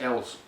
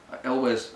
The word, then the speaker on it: Elwes: No, I pronounce it Ells. Elwes, I know. But it's too late now. It's been it's too late. 30 something years of saying that.